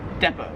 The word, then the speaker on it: depot: So yeah, Americans, we pronounce it depot. In Australia, they pronounce it depot.